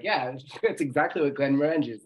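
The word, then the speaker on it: Glenmorangie: Glen Morangi is like having a peat in your mouth. And I said it wrong, didn't I? No, not at all. Glen Morangi is exactly right.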